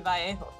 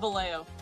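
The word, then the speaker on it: Vallejo: American would it would be valo if you're pronouncing it like it would be in Spanish it would be vjo what but no they call it valo interesting and it's not Valle ho it's valo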